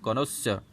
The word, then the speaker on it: connoisseur: कॉनोसर, you will have to pronounce that word as connoisseur.